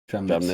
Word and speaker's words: Tramnitz: So the first one is Tim Tramnitz. Tramnitz. That how you say it? Tramnitz, yeah.